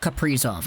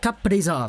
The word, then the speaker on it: Kaprizov: They say it like Kaprizov. Like there's a little break there between the P and the Prizov. Because, I don't know, pronunciation is weird. I'm just gonna say Kaprizov, okay?